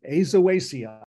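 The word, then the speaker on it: Aizoaceae: rather than manglewood and according to Emily that's how you pronounce it azawasia on the theme of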